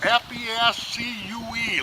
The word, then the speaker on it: fescue: F-E-S-C-U-E, like rescue, only Fescue.